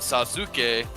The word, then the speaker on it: Sasuke: It's spelled Sasuke, but they call him Sasuke because that U between the 2 consonants in the middle of the word has that really quick, right?